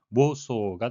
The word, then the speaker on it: Warsaw: 영어식 발음은 모소가 되겠습니다.